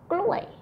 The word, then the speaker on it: กล้วย: And then the falling tone for the word banana is gluay.